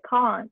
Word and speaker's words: can't: shoot give us your americans say i can't i can't do that whatever but british people say can't i can't do that even the shape of my mouth is different i can't can't i